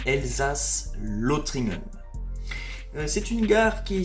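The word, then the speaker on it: Elsass-Lothringen: L ou e l si on le prononce à l'allemande elsas lotringen c'est une gare qui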